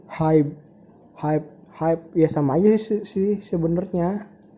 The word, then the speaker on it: HYBE: mereka menjadi hak corporation Hip ya pakai b bukan p Jadi dibacanya itu high Ya sama aja sih